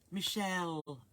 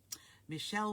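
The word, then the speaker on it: Michele: Hopefully you joined the group and your name is pronounced Michelle. Oh, right, although spelt with one L. I'm sorry, so it is Michelle. Michelle with one L, and I'm a poet, and I don't know it.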